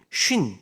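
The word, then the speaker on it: שׁ: 그래서 쉰은 여러분들 쉿 조용히 할 때 아니면은 배를 영어로 할 때 쉿이라고 하죠. 이런 발음으로 쉰. 이라고 하는 거고요. 좀 이렇게 바람소리처럼 나가고요.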